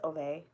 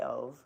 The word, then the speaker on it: Ove: And I'm pretty sure it's Ove, but I say Ove because I'm here in America, and we don't pronounce things correctly.